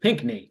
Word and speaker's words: Pinckney: interview on the show we have pink Pinkney that's it yes the sea is silent so he's an author he's local here